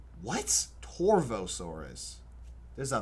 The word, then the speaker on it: Torvosaurus: Torvosaurus. There's a V. Oh, but in most languages V is pronounced like B. Torbosaurus.